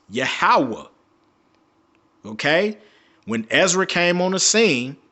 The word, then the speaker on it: Yahweh: So if you go to Paleo Hebrew, his name was pronounced Yahweh.